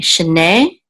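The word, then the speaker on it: שני: Shene means years of. Okay, shana is year. Shanim would be years. Shene is years of. Years of. This munach right here tells us the accent on the last syllable.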